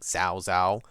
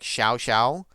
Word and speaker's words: Xiao Xiao: I think I pronounced it with a Z back then, like Zho Xho. Uh, I just didn't know. I'm pretty sure it's supposed to be closer to like Xiao. So, like Xiao Xiao.